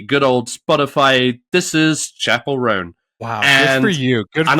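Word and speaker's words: Chappell Roan: I thought her name was Chappelle Roan. Okay. There was a brief moment where I was like, I don't know how to pronounce it. And then she was on SNL. Chapel. Yeah. Chapel Roan.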